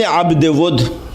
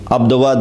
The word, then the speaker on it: Abd Wud: There's Amr ibn Abd Wud. A lot of people mispronounce his name, Abdawad or whatever. Abde Wood, servant of wood.